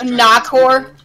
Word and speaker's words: Nakor: It's actually not pronounced Nikor, it's pronounced Nakor. If you say it too fast, it sounds bad. It's pronounced Nakor, not Nikor.